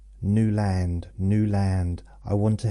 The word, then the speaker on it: Newland: Which is weird that I actually pronounce my name New Land now because obviously back then it was Newand.